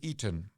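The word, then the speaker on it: Eaton: Richard um Richard eon eon is spelled with e a t o n oh we know this Toronto Eon Center okay Canadians are familiar with Ean okay so this scholar is called Richard Ean he's an American histori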